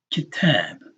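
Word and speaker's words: كتاب: And Arabic words, all of their syllables are short. Staccato. Except when some vowel is being elongated, then that syllable is longer than the others. Kitab. Right? Kitab. And here it's a two-syllable word, right?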